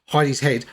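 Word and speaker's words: Hedi's Head: Um, and uh I've always I mean it's pronounced Heidi's head.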